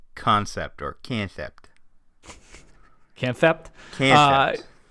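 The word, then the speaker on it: Kansept: how to pronounce it it's just pronounced concept so i just feel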